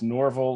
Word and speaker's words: Norvell: Name pronunciation, if you really want to know, it's Norvell, like Norvell Redenbacher.